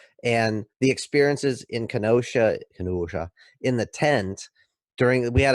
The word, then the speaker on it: Kenosha: So I am very familiar with Kenosha, Wisconsin, and you pronounced it correctly. So Kenosha, Wisconsin. Kenosha, don't you know?